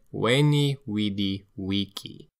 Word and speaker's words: Veni, vidi, vici: But in fact, Julius Caesar said, "Veni, vidi, vici."